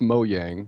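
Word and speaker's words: Mojang: time i miss that it's not gents it's yen's like 41 and it's mo yang so that's right oh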